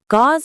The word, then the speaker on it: gauze: Gauze is a very thin, light cloth. Gauze. Sounds like gauze. It has a long Z sound at the end.